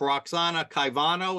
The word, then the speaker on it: Caivano: And the suit is being brought by the librarian herself, Roxana Caivano. Is that the right way to say it? Yes.